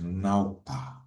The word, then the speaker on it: Ñawpa: So this concept, Ñawpa, it's pronounced Ñawpa, literally means in front, but it refers to the past.